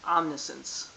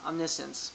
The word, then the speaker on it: omniscience: If I'm that Welcome to DraftKings Omnisense, Omniscience, whatever you want to call it. It's pronounced omniscience, but call it whatever you want.